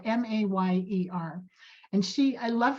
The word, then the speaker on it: Mayer: Mayer, and it's spelled M-A-Y-E-R. And I love how she kind of makes a little joke, and she says, my name is Mayer, like mayor, not like Meyer, like the hot dog.